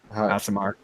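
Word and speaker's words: Aasimar: And I always said it wrong. Asimar. Yeah, an Asimar.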